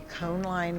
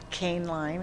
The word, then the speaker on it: Koehnline: the gallery of the con line Museum or can line it is sometimes pronounced at Oakton Community College